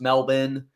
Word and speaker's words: Melbourne: Melbourne, aka actually pronounced Melbourne, was very incredible, very nice, very nice place to stay.